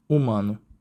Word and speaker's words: humano: But some Portuguese words still end in ano, these days pronounced anu. Take the words for human in French humain, and in Portuguese. humano, This is particularly the